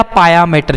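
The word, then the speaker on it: pia mater: Dura मैटर, एरकनोइड मैटर, पिया या पाया मैटर, जो भी आप बोलो, पिया मैटर, पाया मैटर, जो भी प्रोनाउंसिएशन आप करना चाहते हो, ठीक है।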